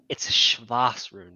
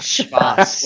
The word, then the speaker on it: Shvas rune: just got to say it's Shvas rune, bro, not Shvas.